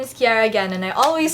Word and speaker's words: Ciara Gan: hi my name is Kiera again and I always say that because some of you still don't want to pronounce my name so it's Cara space again not not tiara ganache arrogance I like to reiterate